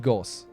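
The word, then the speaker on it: Gauss: pronounced it totally correctly I pronounce it Goss gos Cannon right that's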